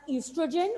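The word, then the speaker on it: oestrogen: One is known as estrogen, O is silent, and the second is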